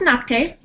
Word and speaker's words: Nocte: a little bit about knock um well it's pronounced noct in um sorry it mean no no it